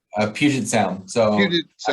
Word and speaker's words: Puget Sound: How far are you from putrid sound? Puted? What do you say? How do you say? Puget Sound.